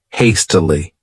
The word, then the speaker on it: hastily: next adverb is hastily this word has three syllables and the stress is on that first syllable hastily what it means is